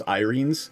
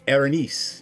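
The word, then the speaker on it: Erinyes: I thought it was Irenes. No, it's Erenice. It is a Greek word.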